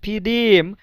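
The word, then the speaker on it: в: পার্কে অনেক লোক আছে এখানে একটা জিনিস মনে রাখবেন ফু এখানে কিন্তু প্রথম অক্ষর যেটা সেটা হচ্ছে ভে কিন্তু আমরা আমি উচ্চারণটা করছি ফুফ পার্কে মানে ভে হের উচ্চারণটা এফ এর মতন হচ্ছে।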